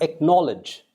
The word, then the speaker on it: acknowledge: And we have acknowledge. Acknowledge. Acknowledge. All right. The C in this word is silent. The K is pronounced.